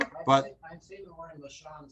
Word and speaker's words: lashon: Well, you can pronounce it with an O, but it's better. It's more proper in English for it to be L-A-S-H-O-N.